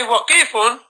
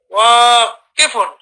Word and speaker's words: واقف: And with regards to the next one, don't say waqifun, but because you have an alif after the waw, so you say wa. And after the kaf, you have nothing. So you just read the kasra. Kifun. Wa kifun.